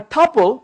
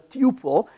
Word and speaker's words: tuple: And a tuple, or some people mispronounce it as tuple, but a tuple basically is a very lightweight object which is just a collection of data.